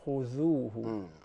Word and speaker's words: خذوه: So you say adh, similar to خذوه. خذوه. Or أعوذ بالله. أعوذ. Okay? But if you keep your tongue in, it sounds as zay.